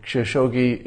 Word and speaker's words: Khashoggi: And the KH in Khashoggi is pronounced like a rasping cough.